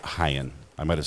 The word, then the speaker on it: Heinz: Yes, like ketchup. There's a lawsuit. He said H-E-I-N-Z. So maybe it's Heinz, not Hyen.